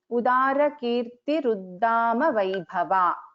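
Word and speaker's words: उदारकीर्तिरुद्दामवैभवा: So, but when we join, it becomes a Sandhi, and we pronounce this together as Udara Kirti Ruddama Vaibhava. So when we split, it will become Udara Kirtihi Uddama Vaibhava.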